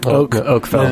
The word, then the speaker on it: Oakfeld: Oakfeld. Oakfeld and Felled Oak. Oakfeld and That's spelled the F-E-L-D.